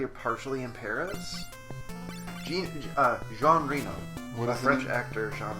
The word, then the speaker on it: Reno: Jean Reno. It's probably not Reno. Reno. John Reno. It is spelled exactly like Reno, Nevada, but it is not.